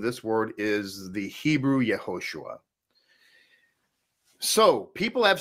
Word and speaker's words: Yehoshua: credentialed who would ever say that the name of the Messiah is anything other than Yeshua or Yehoshua. I want to make that crystal clear, okay? So if, in fact, you come across other pronunciations such as Yahshua or Yahushua or whatever, just understand that that is not correct. It's not up for debate.